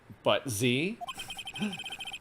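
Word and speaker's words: Butz: usually been true um it's pronounced but z he has a knack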